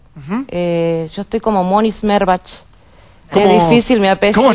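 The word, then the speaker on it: Schmerbach: Yo estoy como Moni Smerbach. Qué difícil mi apellido. ¿Cómo se escribe, claro, para se que la gente... S-C-H-M-E-R-B-A-C-H. Smerbach.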